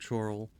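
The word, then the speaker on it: Chorrol: I could look around chal is it chal or Coral it's pronounced like Coral okay that makes more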